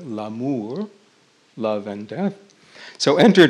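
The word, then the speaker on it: l'amour: so enter death or in french la mor which rhymes with la moor love and death so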